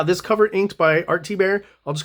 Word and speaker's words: Thibert: Art T bear um and that's how they say it thibert to T bear I don't know uh I know it's a French name so it's actually in French T but I don't know